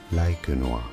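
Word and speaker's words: Laekenois: It is, but wait, how do you say it? Lakenois. Lakenois is how it is said.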